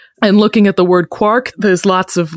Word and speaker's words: quark: And so that was his justification for pronouncing it quark, because it's like quart.